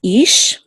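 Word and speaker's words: אִישׁ: Okay, the chirik says e. So this is ish.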